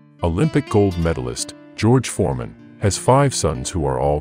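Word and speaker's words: ห้า: and go black and have to be cut off to stop the rot spreading in thailand people text 555 to each other instead of hahaha because the number five is pronounced ha in thai the university of alaska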